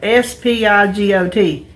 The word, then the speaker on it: spigot: here's the thing it's not a spigot they spell it s-p-i-g-o-t it's a spigot s-p-i-c-k-e-t spigot and what do